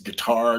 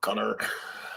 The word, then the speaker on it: Qatar: It's guitar, not a quar or cutter." Uh, yes, please. No politics. Vincent Pascal says, "Greg from Frequent Mileer pronounces it cutter."